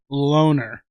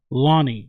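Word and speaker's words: Lone'er: this guy's name because it looks like it's Loner, but it's pronounced, at least from what I've seen, everybody pronounce it. It's Lonnie or Lowney. I thought it was Loner. Yeah, I thought it was Loner Kavanaugh, but it's pronounced even in like London card stuff like that. It's pronounced Lonnie Kavanaugh.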